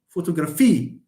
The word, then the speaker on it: photography: ultimate penultimate anti penultimate that's why we say photography if someone comes and say I like photography you look like French my friend when you say it like that or someone says I like photography do you speak like this photography you are Italian or you I like photography no it's photography that's the natural way of pronouncing this yes yes yes